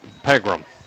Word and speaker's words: Pegram: How's so it then pronounced? It's Pegram.